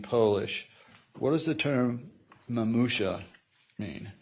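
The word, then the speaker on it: mamusia: What does the term mamusha mean? If I'm pronouncing that correctly? Yes, you are.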